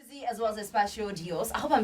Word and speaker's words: Espacio Dios: Espacio Dios, you said it right. Espacio Dios.